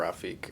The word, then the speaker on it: Rafiq: You can go by Raf or Rafiq. A lot of people don't know how to say Rafiq, though. Did I just say it right? You said it correct.